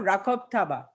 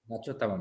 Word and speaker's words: Rachob Taba: Is it Rachob Taba or Rakob Taba? Rachob Taba, madam. Rachob Taba, okay.